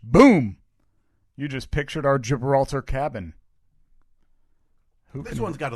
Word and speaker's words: Gibraltar: it does the gibraltar i believe that's gibraltar you think that's a soft g yeah rock of gibraltar i told you i